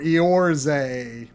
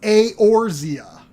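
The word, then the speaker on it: Eorzea: was i thought was like like jose or eorze but it's it's it's a orzea yes c and that again i knew nothing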